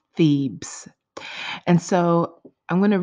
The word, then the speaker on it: Thebes: it with you again the name of this ancient Egyptian city is Pheebs Pheebs that's spelled th e be e s Pheebs and so I'm going